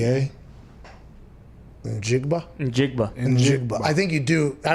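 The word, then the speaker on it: Njigba: a go throw it i'm gonna go jigba n is silent okay so it's jackson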